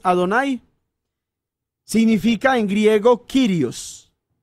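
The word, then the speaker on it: אֲדֹנָי: en el nuevo testamento esa expresión hedonai que se escribe pues adonay significa en griego kyrios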